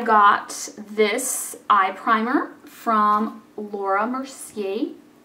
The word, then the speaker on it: Laura Mercier: I got this eye primer from Laura Mercier, as I was corrected when I tried to call it Laura Mercier.